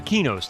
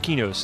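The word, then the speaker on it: Qeynos: you know EverQuest uh kenos the city of kenos in in EverQuest is actually q e y n o s if you spell it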